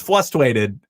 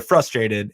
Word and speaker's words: frustrated: pet peeve is when people don't pronounce the first R in frustrated. And Fessy says flustrated, and it really bothers me. You're not frustrated. You're not frustrated, my friend. You are frustrated, and that is fine, but say it correctly.